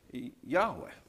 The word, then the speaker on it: Yahweh: So this was, in German, you know, that would have been Yahweh. But when you put it this way, as you pronounce it with the English pronunciation, it comes out Jehovah.